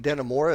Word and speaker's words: Dannemora: Escape from Dannemora. Is that the way to pronounce that? Correct.